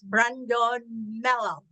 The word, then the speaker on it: Brandon Mello: His name is Brandon Mello. Did I pronounce it right, Brandon?